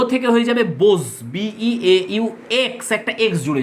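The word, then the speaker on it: beaux: বো, বো মানে ফুলবাবু, বো থেকে হয়ে যাবে বোজ, BEAU, এক্স একটা এক্স জুড়ে যাবে, উচ্চারণ হবে বোজ।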